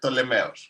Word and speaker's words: Ptolemy: It's Ptolemeos. Ptolemeos. Okay. Ptolemy.